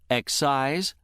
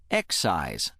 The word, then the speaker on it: excise: Once again, word six has two pronunciations. Excise and excise. Which pronunciation you use depends on how the word functions in a sentence. Accordingly, when word six is being used as a verb, meaning to remove by cutting, it is pronounced excise. Excise.